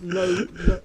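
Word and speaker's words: lode: So that's load, L-O, how you say it?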